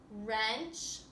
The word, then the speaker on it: wrench: The words over here also have silent W's. Wreck, wrench, and wrap.